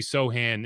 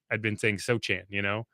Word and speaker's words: Sochan: Because I had been in my head, I'd been saying Sochan, it's like a Chameleon type of deal, when you read it and that's how you learned it.